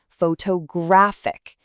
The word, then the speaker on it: photographic: Add a completely different suffix and it shifts yet again. Photographic.